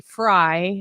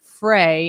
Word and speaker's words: Frey: he doesn't say both actually Frye it's not fray and I married into